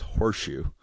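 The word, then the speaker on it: Horshu: flat whereas here did this his name was horseshoe horseshoe that's awesome it is spelled like age o r sh you worship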